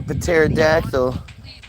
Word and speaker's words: pterodactyl: The world's fairs are such a huge piece of history that just why can't you hear the pterodactyl going to the bathroom? Because the P is silent.